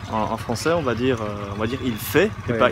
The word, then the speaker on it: il fait: Donc si par exemple on dit en anglais he's doing, en français on va dire il fait et pas il fait. On va pas prononcer la lettre finale.